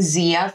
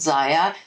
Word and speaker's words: Zyia: me too that was exactly how I was pronouncing I was saying Zia throughout my very first video about Zaya and there was a few reps in the